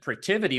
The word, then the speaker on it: Protiviti: the decision when management were to recommend that Protiviti was going to come in and help them build out new business processes or to help them with their financial reporting.